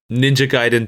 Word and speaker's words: Gaiden: It was Ninja Gaiden 2 and Revenge of Shinobi were the games that they had cheat codes for.